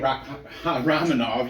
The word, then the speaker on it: Rakhmonov: Rakhmonov.